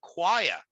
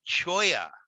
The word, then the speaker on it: choir: non-native english speaker to pronounce the word choir as in a church choir c-h-o-i-r and they're gonna say choya or whatever you know but words